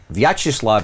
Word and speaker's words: Vyacheslav: Okay, so Vyacheslav is correct. Okay. It's Butsayev. Butsayev, accent on the second to last syllable.